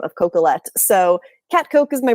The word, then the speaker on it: Coquillette: Um it's because no one can spell or pronounce my last name of Cocolet.